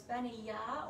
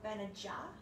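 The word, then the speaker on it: Bena: was benia benia uh b-e-n-a so it's been a ya or ben aja um depending on how you want to pronounce it um so then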